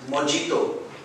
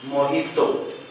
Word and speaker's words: mojito: and the department head water it is Nikki pronounced as mijito a modulating move but the pronunciation is mojito mo I do welcome the night Jay sounds